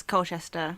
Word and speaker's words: Colchester: friend Craig Owens James Corden in present day Colchester is that right Vinnie is that how you say it Colchester it is Colchester cool who has a new here that's all